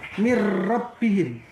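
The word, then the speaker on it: من ربهم: Min rabbihim, cara membacanya mir rabbihim.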